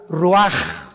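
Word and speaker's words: רוח: capítulo y exhaló Isaac el Roach así como suena se pronuncia la c en hebreo como J ruaj se le salló y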